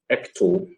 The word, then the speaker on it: Ecto: in elixir and then for elixir i'm using ecto that's how it's pronounced for my databases and everything and then